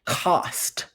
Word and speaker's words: cost: Cost. Cost. It doesn't have that long O sound, so that's an exception word.